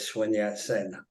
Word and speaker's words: Sun Yat-sen: I'm glad to see that you're familiar with Sun Yat-sen. That's actually the way you pronounce it, and you know, people don't know